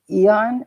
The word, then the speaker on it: Aeon: about um life waves it's called the yh eon it's spelled aeon i think i can see it right right here it's the eon patch um this this patch